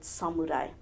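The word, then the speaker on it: 侍: ask all of you please help to spread the correct pronunciation of the word suai Samurai is derived from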